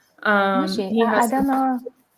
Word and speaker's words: Mooji: Mushi. He I has don't know. I will Google it. I'll write his name for you on Instagram later. I Okay. think it's Mooji. That's how his name is pronounced.